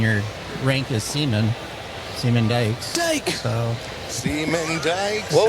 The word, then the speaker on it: Dyches: been saying it forever D cheese D cheese that's that's a new one how do you spell it d y c h e s it's dutch but it's pronounced Dykes D oh plural like